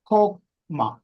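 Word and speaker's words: חכמה: ഇത് പ്രൊനൗൺസ് ചെയ്യുമ്പോൾ ഖോ എന്നാണ് ഉപയോഗിക്കുന്നത്. KHO എന്ന് നമ്മൾ ഉച്ചരിച്ചാൽ എങ്ങനെ ഇരിക്കും, അതാണ് ഉച്ചാരണം. ഇവിടെ എഴുതിയിരിക്കുന്നത് പോലെ വായിച്ച ചോക്മ എന്നാണ് വായിക്കുന്നത്. പക്ഷെ എൻ്റെ ഉച്ചാരണം കെയിൽ തുടങ്ങണം. KHO അവിടെ തുടങ്ങണം. ഖോക്മ എന്ന് പറഞ്ഞാൽ വിസ്ഡം അല്ലെങ്കിൽ അണ്ടർസ്റ്റാൻഡിങ് എന്നുള്ള വാക്കിനാണ് അർത്ഥം.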